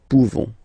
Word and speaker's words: pouvons: Okay, you don't pronounce the final S. Nous pouvons.